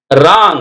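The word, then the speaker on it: wrong: சொல்றீங்களா அது அடுத்து பாருங்க ராங் இந்த இடத்துல டபள்யூ ஆர் ஓ என் ஜி ராங் டபள்யூ க்கு உச்சரிப்பு இல்ல wrap பிபி இ ஆர்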